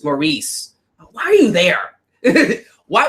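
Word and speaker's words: Maryse: according to Al Roker who pronounced her name wrong it's Maurice why are you there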